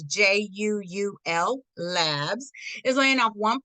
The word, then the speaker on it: Juul: October 15th, Juul Labs, believe that's how you say it, it's Juul Labs, is laying off one person at 947 Illinois Street, Unit 108 in San Francisco.